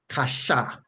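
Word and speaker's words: קשה: That root word from which those words are derived is transliterated to English as Qashah, and it is pronounced kasha, kasha, like when we say kashamaka, right?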